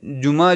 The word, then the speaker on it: جمعہ: پڑھتے جیم میم ہے، اس طرح سے تلفظ وہ صحیح نہیں، بلکہ جمعہ عین ہے آ. عربی لفظ ہے جمعہ، فرائیڈے. تو یہ اصل میں ہے جیم میم عین ہے، جمعہ.